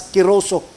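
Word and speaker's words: κηρύσσω: Ang pag make of disciples, pag proclaim sa gospel, it is pronounced in Greek as keroso.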